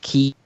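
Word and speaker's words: χ: It's pronounced Chi because it's actually the Greek letter, which actually I think is pronounced Ki.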